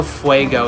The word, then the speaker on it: Fuego: I have the Headstone Quest one where you hear Johnny Depp saying Padres del Fuego, so I know it's pronounced Fuego.